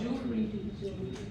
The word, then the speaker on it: jewelry: अभी people at least know that it's jewelry. So ma'am, how many syllables are there in jewelry?